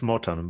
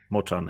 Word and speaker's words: Moczan: I pronounce your name it's Morton but everyone probably pronounce it is Motown yeah but most people pronounce it like magazine I could I could